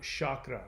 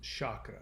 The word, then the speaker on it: chakra: and the chakras yes i said chakra not chakra it's not pronounced chakra it's pronounced chakra the chakras are the wheels